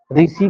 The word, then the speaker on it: ऋषि: एक र लगा हुआ है इसमें, ठीक, एक र लगा हुआ है इसमें, ये र नहीं है, ऋषि का री होगा, ठीक है।